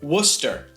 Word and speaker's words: Worcester: And in English they pronounce it "Woster."